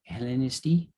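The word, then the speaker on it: Ελληνιστί: Hellenisti.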